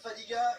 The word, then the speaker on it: Fadiga: côté gauche, et bien sur la feuille de match, c'est écrit Fadiaga. Donc voilà, instinctivement, c'est le nom que j'ai prononcé, mais tout simplement sur son maillot, c'est écrit Fadiga, on vient de le signaler. Donc voilà, c'est le débat est clos.